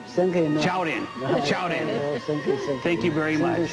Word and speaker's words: 超人: Chaorin? Chaorin.